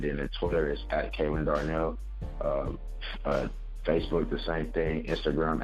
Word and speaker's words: Ke'Lonn Darnell: Thank you for correcting kelonn-darnell.